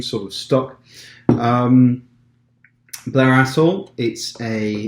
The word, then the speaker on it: Blair Athol: Blair Athol, or Blair Athol, I think they pronounce the TH.